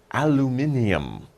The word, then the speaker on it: aluminium: an interesting word aluminum Americans will say aluminum British people will say aluminium okay so this word